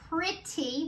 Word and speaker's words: pretty: Then we have pretty. We have the purr in the beginning. Pretty. We hear the E. Pretty. Double T-Y. That says E again.